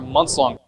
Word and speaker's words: months: love the pronunciation here his nns these are strong sounds right absolutely there's an S completely killed the th it sounds like months months long months long